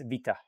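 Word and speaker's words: βήτα: bit differently the letters it's like we say beta in Greek they it's Vita Alpha Vita V wow gamma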